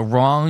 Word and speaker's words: wrong: W so that means when you're phonetically pronouncing something you pronounce it like the W's not there so wrong you'd be like you